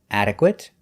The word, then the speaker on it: adequate: a longer word it has two different pronunciations if it's not a verb it is pronounced it our examples today intermediate adequate legitimate accurate and approximate